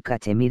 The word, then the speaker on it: Cachemir: santa del famoso cashemere cuyo nombre pronunciado hoy cachemir e designa un estado